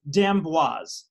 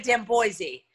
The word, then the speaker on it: d'Amboise: ask it on camera it's dambois i say it right perfect you said it so perfectly you could have said damn boise yeah you said death wise well it was going to either be damn boi or boss and i and